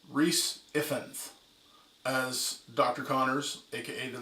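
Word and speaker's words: Rhys Ifans: and then we got not gonna say his name wrong even though i'm part welsh rhys effense as dr connors aka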